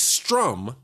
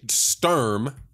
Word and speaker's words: Sturm: Because at the time, there was a guy named Felix Strum. Strum, I always mess the pronunciation of this guy's name up. Felix Sturm held the WBA.